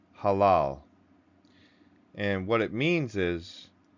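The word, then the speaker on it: הלל: And it's pronounced halal.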